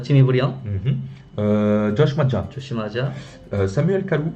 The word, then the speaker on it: Jimmy Briand: 한국에선 지미브리앙 하는데 보통 여기서는 지미브리엉이라고 하죠. 지미브리엉.